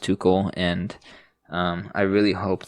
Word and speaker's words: Tuchel: hopefully the new manager tuchel will guide us in the future okay so it turns out i butchered that name it's pronounced tukel and um i really